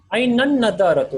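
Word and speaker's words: أين النظارة: Ainan nadaratu. Okay, so with few letters like the noon, the lam also will get skipped.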